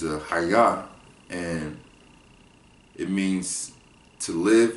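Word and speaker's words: חָיָה: Haya. Haya. So the pronunciation of that word is Haya, and it means to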